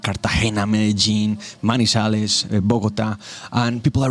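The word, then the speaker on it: Medellín: Some people don't know how to pronounce that. They say Medellin or something, but it's pronounced Medellin.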